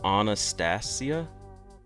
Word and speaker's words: Anastasia: I pronounced your name like the singer, but it's actually pronounced Anastasia stressing the C part.